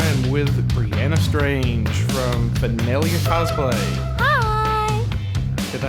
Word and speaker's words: Fanelia: and today I am with Brianna strange from felia cosplay hi did I say that right yes